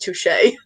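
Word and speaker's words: touché: Brooklyn nine-nine where they say like Toshi it's pronounced Touche I'm gonna thank you from now on tushie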